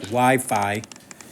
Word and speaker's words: Wi-Fi: it like I said if you were saying wiffy it clearly means you don't know what you're talking about that's Wi-Fi well this is not log five eight log base 5.